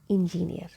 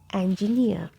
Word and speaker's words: engineer: So you see that the E has a sound, okay? N, like you have in pen, okay? N. And G, near, not near. So engineer, engineer, engineer, okay? So this is the correct pronunciation, and in British English we keep letter R silent.